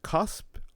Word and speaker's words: cusp: How about the Because that p at the end, you actually got to sound it out.